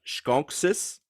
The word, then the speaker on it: skonis: moohan on the side it's got skonis which in the modern language we' pronounce skoni which is a skunk